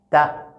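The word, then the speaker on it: ت: Donc la langue doit toucher là-bas et on délaisse ça un peu. Ta. Ta. Et voilà comment il faut prononcer cette lettre.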